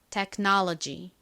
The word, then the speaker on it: technology: 뒤에가 로지가 아니라 요런 식으로 발음이 되거든요 들어보세요 technology technology 요렇게 발음이납니다 자 한번 천천히 따라해 보세요 technology 한번